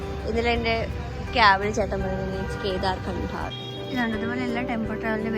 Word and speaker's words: Kedarkantha: I don't know, it's pronounced as Kedarkantha or Kedarkantha. ഇതിലെൻ്റെ ക്യാബിൽ ചേട്ടൻ പറയുന്നത് ഇറ്റ്സ് കേദാർകണ്ഠ.